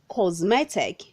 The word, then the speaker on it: cosmetic: pronounced as cosmetic cosmetic say cosmetic not cosmetic the letter s changes to the sound of letter z causes red number 86